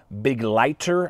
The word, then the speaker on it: Begleiter: We are checking out the Kizer Begleiter, I believe is how you pronounce that. It's German for companion.